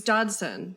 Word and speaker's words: Dodson: Can you pronounce it for me? It's Dodson.